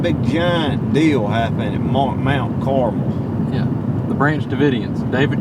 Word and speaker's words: Carmel: This one is pronounced Mount Carmel, cuz we ain't talking about the candy.